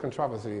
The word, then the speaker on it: controversy: You do know what controversy is. That's the British pronunciation, the King's English of controversy.